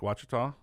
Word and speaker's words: Ouachita: You've won second place in the Hobie Bass Open Series shootout, Lake Ouachita.